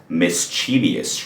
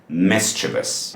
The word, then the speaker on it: mischievous: And I totally get it, because if you look at it, it looks like it's gotta be pronounced mischievous, right?